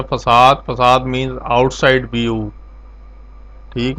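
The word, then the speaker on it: façade: फसाद pattern pronounce है फसाद।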